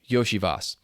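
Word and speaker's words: Iosivas: last name consistently and now I'm blanking it's yosias um I've said it that way before but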